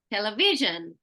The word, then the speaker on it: television: example we say so the syllable before a shin origin always has the most stress so we say television occupation um if you can